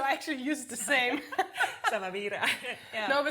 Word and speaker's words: SAMAVIRA: I say it really Spanish, SAMAVIRA, but it's... No, it's perfect. Yeah, okay. This is the most universal pronunciation, so I actually use the same. SAMAVIRA.